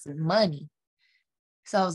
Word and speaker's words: Muni: he was like that's dope but you should pronounce the money so i was like that's fire google there